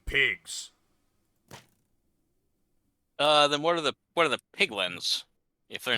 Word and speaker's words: piglin: The piglins, it rhymes with pigmen, are pigmen. Okay. Piglins, pigmen. Piglins, pigmen.